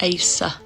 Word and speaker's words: Acer: But because you guys over here don't pronounce the R, that would be pronounced Asa, even though it's Acer.